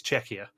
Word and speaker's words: Czechia: saying czechia wrong because i was saying it chechia which is how rick kept pronouncing it it's czechia and i will be